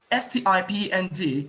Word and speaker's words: stipend: S-T-I-P-E-N-D is correctly pronounced as stipend, sty. The letter I there is pronounced as I.